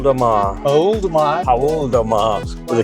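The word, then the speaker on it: Paul do Mar: Paul de Mar, with the correct pronunciation.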